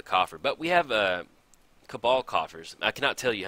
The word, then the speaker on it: Cabal: still to this day every time I get down cabal coffers I have to stop for a second and think about it to make sure I'm saying it right I don't know why I would call it Cabell I finally finally one